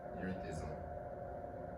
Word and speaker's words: erethism: With these symptoms were so called, the condition became known as the Mad Hatter, which is known as erethism.